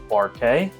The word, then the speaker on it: Bar K: in Kansas city is a bar called bar k it's spelled like bark yeah it's a dog